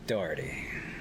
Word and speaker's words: Daugherty: here once again with my friend dave dougherty dougherty he wanted to say it right it's not